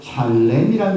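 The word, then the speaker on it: שָׁלֵם: 여기 온전했다라고 사용된 단어가 히브리어로 샬렘이라는 단어입니다. 발음이 샬롬과 아주 비슷하죠.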